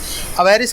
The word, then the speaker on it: avarice: अवेरिस का मतलब होता है एक्सट्रीम ग्रीड, AVARICE, ठीक है जी, और अवेरुस ऐसे प्रोनाउंस करते हैं इसे, अवेरिस वही।